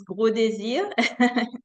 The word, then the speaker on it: Gros-Désirs: It's Gros-Désirs. It's a French thing.